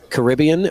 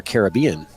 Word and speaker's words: Caribbean: Do you say Caribbean or Caribbean?